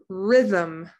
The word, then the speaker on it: rhythm: that's a silent g rhythm rhythm i hear the r re oh that h that h could be silent i think that's our only choice silent h a sign we don't